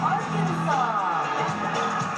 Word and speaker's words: Arkansas: final s is silent Aransas Aransas the final s is silent California Colorado Connecticut Delaware